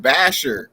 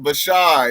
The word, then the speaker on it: Bashar: I said Basher. But it's pronounced Bashar, yeah.